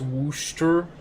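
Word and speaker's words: Worcester: Warchester or Chesterar is stupid. It's pronounced Wooster.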